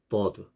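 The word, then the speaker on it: ض: bird. 이 bird 경우에는 이것도 둔탁한 D 발음입니다. 둔탁한 D. 아까 우리 달 배웠었죠. 달. 달보다도 이제 둔탁한 거죠. 그래서 bird, bird.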